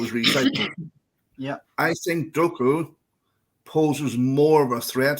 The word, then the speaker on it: Doku: I think Doku poses more of a threat because it's going